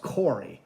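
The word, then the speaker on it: Khori: here oh corey awesome she spelled her name k-h-o-r-i and it's pronounced corey how cool is that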